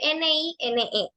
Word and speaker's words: nine: Muchas personas tienen mucha confusión a la hora de pronunciar el número 9 porque se escribe N-I-N-E o Nine, ¿verdad?